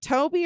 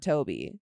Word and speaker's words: Tobe: But I was like, there's no way it's not Toby. I just have never seen Toby spelled like that. I've always seen it with a Y.